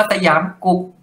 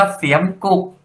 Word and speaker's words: เสียมกุก: แปล ว่า ว่า อะไร มัน ไม่ ใช่ อ่าน ว่า สยาม กุก มัน อ่าน ว่า เสียม กุก แล้ว เสียม กุก มัน